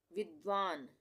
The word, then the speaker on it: विद्वान: विद्वान। विद्वान, इसको हम क्या पढ़ रहे हैं? विद्वान। यहाँ पे वि और फिर द का आधा उच्चारण हो रहा है, व पूरा है ये।